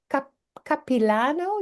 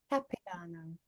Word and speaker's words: Capilano: and I don't even know whether I uh pronounce it cap capano University you know it's interesting because it looks